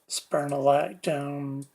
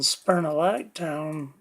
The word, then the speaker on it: spironolactone: So I'm taking 80 milligrams of that, plus I'm taking another one called spirolactone, or spironolactone. People pronounce it different ways.